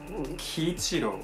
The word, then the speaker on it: Kiichiro: Như "Kiichiro Osoreda" Khi bạn nhìn vào cái tên này, nó sẽ được đọc là "Ki-ichi-ro".